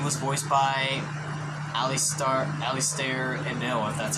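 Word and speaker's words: Alistair Abell: and apparently spidey was voiced by ali star alistair and noah that's how you say his name who remembers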